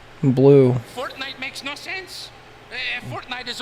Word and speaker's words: Fortnite: That's a fork knife reference. A fork knife reference? Oh. It's actually pronounced Fortnite.